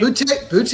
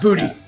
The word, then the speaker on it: Boutte: I know it's spelled Boutte, but it's not pronounced the way it looks, right? Boutte, I think. Yeah, we'll go with that. Boutte, not booty.